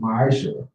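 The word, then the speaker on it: מעשר: Means tenth in the Hebrew, and is pronounced ma'asher.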